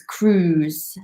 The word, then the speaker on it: cruise: Yeah, be careful with the pronunciation of this word. It's quite difficult to pronounce. It's cruise, like Tom Cruise.